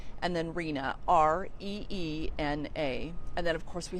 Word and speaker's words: Rena: First name is spelled F as in Frank, N as in Nancy, U, and then Rena, Reena.